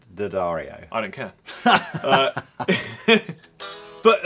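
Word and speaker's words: D'Addario: these are very nice according to the people it is pronounced didario I don't care uh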